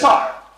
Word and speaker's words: César: You spell it like César, like the salad, but you actually pronounce it like with a TH, the C's, like a TH. Can we all try to pronounce it, please? It's César.